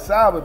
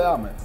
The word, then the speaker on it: salmon: I call it salmon, man. It got a fucking L in it. Why we can't call it salmon? Wait, we pronouncing that wrong? It's pronounced salmon with no L.